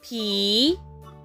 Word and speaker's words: palm: P-A-L-M.